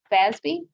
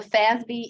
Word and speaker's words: FASB: financial accounting standards board fasb pronounced basby and the fazbee is the the group